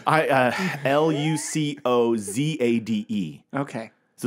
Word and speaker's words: Lucozade: how's that spelled I Luc oza de okay so it's like lucozade yeah Lucas that's probably it that's really it lucozade lucozade lucozade now it's not